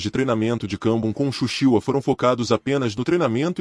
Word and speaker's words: Shushiwa: Um dos homens que teve o maior impacto no treinamento em artes marciais de Kambun foi um homem chamado Shou Tsuruo, pronunciado no Japão como Shushiwa, em sua escola, o Templo de Fushuanshin.